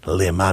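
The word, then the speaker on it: למה: dots llama is why lima means for what same letters different pronunciation not lama not why did you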